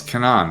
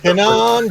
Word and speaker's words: Kanan: It's Kanan, right? Also, like a cannon. Also, Urza Bridger. Kanan Jarros.